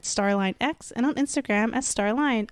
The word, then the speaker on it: Starline: And you could find me on Twitter at StarlineX and on Instagram as Starline. All pronounced Starline.